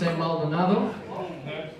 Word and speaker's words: Maldonado: name is uh Maldonado is my last name or if you want to pronounce it uh in my native tongue it's Malon somebody want to get